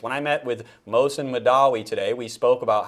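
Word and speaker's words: Mahdawi: can never Mosen Mosen Madawi Madawi and I always say it like totally messed up, but this rhymes with Gandhi, which I think sometimes he's trying to kind of imitate, but anyway.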